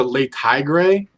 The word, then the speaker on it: Le Tigre: And if you ever got into Le Tigre, that's how you pronounce it.